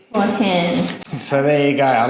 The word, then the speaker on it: Hua Hin: It's Hua Hin. Hua Hin.